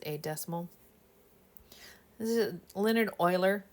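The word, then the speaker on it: Euler: decimal this is Leonard Oiler it's pronounced Oiler name this number e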